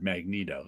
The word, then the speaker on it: Magneto: conversation in the bullpen whether it's Magneto or Magneto and it was like he's a great villain there's no way Neato is in his name but that's the actual word Magneto it's a thing exactly